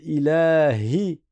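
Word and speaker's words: إِلَٰهِ: Donc on dit pas ilahi. Ilahi. On prolonge. Ilas à vous. Ilahinas ilahinas. Attention le ha il faut bien le prononcer. On dit pas il a il a c'est pas il yi avec un ya c'est ilahi.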